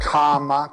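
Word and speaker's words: kāma: as desire he was called karma k-a-m-a long a first one that means the Lost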